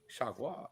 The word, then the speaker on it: Chargois: Fargois. Chargois. Fargois. Pardon me. Chargois.